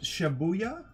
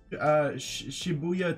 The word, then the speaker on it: Shibuya: for the recently opened is it shabuya shibuya tokyo uh kid flagship store i think that's how you pronounce the region yeah kith opened its